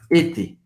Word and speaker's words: était: E a pronúncia était A-I-E-N-T. Você vai pronunciar basicamente E. E-T. Como se fosse assim. Était.